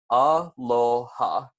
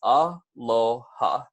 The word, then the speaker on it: Aloha: from here on out Aloha is pronounced ah lo ha so it's easy enough so you guys can repeat it back with me one more time that's aa lo ha all right jumping into